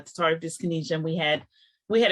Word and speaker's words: dyskinesia: we want to hear more about part of dyskinesia and I'm saying it right correct you're right